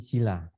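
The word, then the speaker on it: sīla: Sedangkan sila yang i-nya kalau dibaca panjang. Karena i di dalam di i-nya itu ada garis. Ya, ada garis datar. Berarti bacanya harus panjang. Sila. La-nya pendek karena a-nya tidak ada garisnya.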